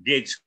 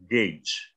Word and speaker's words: gauge: Tadi itu gauge. Karena G sama A, G tetap ya. Cuma G sama E yang belakang. Gauge, gitu ya.